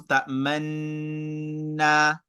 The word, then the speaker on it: تأمنا: La ta'manna, la ta'manna. So I'm positioning my mouth like I'm saying ta'manunna, but in reality, I'm pronouncing ta'manna.